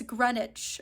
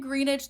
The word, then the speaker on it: Greenwich: are lovely but it's Greenwich Village I was so impressed by myself too because I did the research I was like okay don't pronounce the W it's silent but I was saying greenage this whole time so